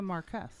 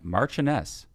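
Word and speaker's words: marchioness: Marquee Marquee of Chumley she's a Marquez she's a mar well but it's marchan marchess of Chumley that's how you say that word John Chum chumy I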